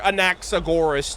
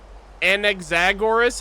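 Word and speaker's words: Anaxagoras: I don't like an anexagoras. I I like anaxagorus.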